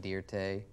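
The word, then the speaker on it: Dirte: for some reason anyway i just put an e on it pronounce it dear tay it's no big deal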